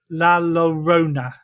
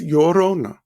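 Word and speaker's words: Llorona: I think this one's a little bit easier for me to say the laurona. Well, the two L's in Spanish is pronounced like a Y. Okay. So that's Yorona.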